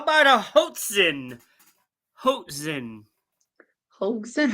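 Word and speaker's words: hoatzin: go with one more uh how about a Hoten Hoten hen how do you spell it HOA t z i n hot Zen Hoten let's go animal all right animal says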